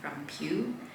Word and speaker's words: Peow: And now we arrive to my small Pew, I guess Pew is the correct way to pronounce it.